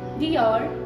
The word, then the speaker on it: Dior: The correct pronunciations are Dior, Chanel, Louis Vuitton and Hermès.